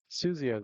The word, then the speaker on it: Susio: Suzio. Oh, okay. Susio. I've been saying it wrong.